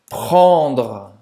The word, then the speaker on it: prendre: Prendre. Prendre. Prendre. É sua vez. Prendre. Prendre. Muito bem. Então, a garganta, tá?